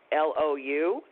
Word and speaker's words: Myrna Lou: It looks like my, but it isn't. So I was named for Myrna Loy, who's a movie star. Right. Full-time movie star. And it's spelled MYRNALOU, all one word. It's like Mary Lou, only this is Myrna Lou.